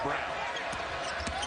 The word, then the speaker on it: Braun: He'll pull back out, give it to Brown. Spelled like Braun. Pronounced like Brown.